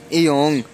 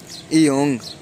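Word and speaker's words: 이응: इसके बाद आएगा इयोंग, इयोंग। इयोंग ये फर्स्ट पे भी आए तो साइलेंट, सेकंड पे भी आए तो साइलेंट, मतलब इसको कुछ भी नहीं पढ़ा जाता, ये साइलेंट रहता है। ठीक है, और अगर ये आए लास्ट में ये देगा ओंग की आवाज़, ओंग, ओंग।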